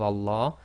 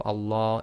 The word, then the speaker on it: Allah: and a fata so always remember the Lamb of Allah is always two lengths long so in conclusion we now know how to correctly pronounce the name of Allah subhah and the rules